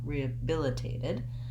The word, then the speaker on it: rehabilitated: h sound dropping out building this word from the stressed syllable may help you so bill billitate debilitated rehabilitated when i can say